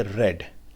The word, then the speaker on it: read: है वर्ब का, उसमें उसको रेड पढ़ा जाता है. ठीक है, और ये हमेशा हैज़, हैव और हैड के बाद अगर R-E-A-D का वर्ड आया तो हम उसको प्रोनाउंस करेंगे रेड.